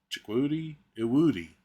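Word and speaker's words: Chukwudi Iwuji: I had to listen to a pronunciation of the gentleman's name. It's Chikwudi Iwudi.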